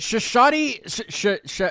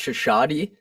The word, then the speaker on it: Shashaty: is it Shashaty? How do I say it? Is it Shashaty? Yeah, it's actually, I think it's properly pronounced Shashaty, but in Americanized version of the name Shashaty.